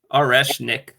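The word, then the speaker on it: Орешник: Yeah, it's Oreshnik.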